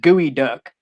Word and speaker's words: Geoduck: with this town named geoduck and they just they they they just laughed and said it's pronounced gooey duck and i'm like how in the hell is g-e-o pronounced gooey but anyway right hey